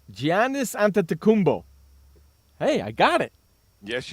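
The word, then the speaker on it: Giannis Antetokounmpo: during the break Ron found out how to pronounce this guy's name it's gianis an tumbo hey I got it yes you did Gian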